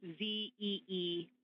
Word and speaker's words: Zeeman: I may be pronouncing that wrong. What's the first letter of that word? Zulu. It's Zeeman.